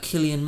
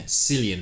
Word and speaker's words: Cillian: About Killian Matthew possibly taking over the reins as Bond. Now, I'm a big Bond fan. You are a big Bond fan? I'm a big Killian Murphy fan.